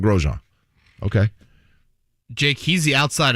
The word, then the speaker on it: Grosjean: totally but if but i asked him once i'm like how do you introduce your name like if you say your name how do you say it he's like roman grosjean i mean the inn kind of subtly comes in but it's real mag grosjean okay jake he's the